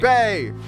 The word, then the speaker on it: Bay: call you my name rhymes with gray Bay she is bae select